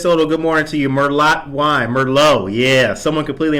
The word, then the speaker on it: Merlot: I don't care how you pronounce it. Yeah. But yes, it's gnocchi. Dora Sanchez Soto, good morning to you. Merlot wine.